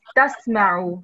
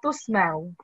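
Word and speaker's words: تسمعوا: So then we have to pronounce it as tasma'u. So la tasma'u, and you pronounce it as la tusma'u. Okay. So there's no dhamma on ta. There's fatha.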